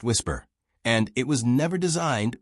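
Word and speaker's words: WSPR: The system is called Whisper, Weak Signal Propagation Reporter, pronounced Whisper, and it was never designed with aviation in mind.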